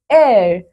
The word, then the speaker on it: heir: C, an heir. बच्चों यहाँ पे हो क्या रहा है? We have used an before these words too because H is silent.